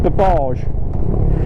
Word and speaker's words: Burbage: It's spelled Burbage, but it's pronounced Babbage, or it is if you're me.